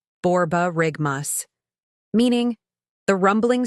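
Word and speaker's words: borborygmus: is on love overload word three borar rigmas pronunciation borar rigmas meaning the rumbling sound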